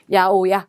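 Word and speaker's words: 八百屋: 특히 야채가 읽을 때 우리랑 전혀 800옥이라고 적고 발음 되게 독특하죠. 야오야 이런 것들 조심해서 보시면 되시겠습니다.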